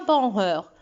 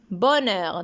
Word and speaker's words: bonheur: comme par exemple comme bonheur bonheur on ne dit pas par heure bonheur donc le h est muet à exemple théâtre nous